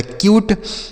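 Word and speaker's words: cute: उसी तरीके से सी से पढ़ेंगे आधा का, यू का उच्चारण यू के रूप में, टी ई से ट, यह हो गया क्यूट।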